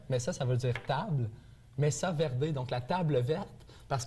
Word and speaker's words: Mesa Verde: Est-ce que je le prononce comme il se doit? Mesa Verde. Mesa Verde.